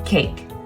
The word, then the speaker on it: cake: with another picture now this picture has four letters with a silent e but we don't hear that e it is silent so there are truly only three sounds in cake watch cake this motion